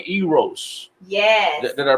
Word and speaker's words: Eros: Recorded, so tell them this is Love Language Volume 1 Eros. Yes. Did I pronounce that correctly? Eros.